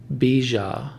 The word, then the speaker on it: Bija: So Om Bija Namaha. That middle syllable is B-I-J-A, if you need a visual.